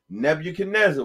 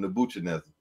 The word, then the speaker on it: Nebuchadnezzar: And the last part is Zar. And it's a good thing you say that, because when I first read the Bible for myself, I used to call him Nebuchadnezzar.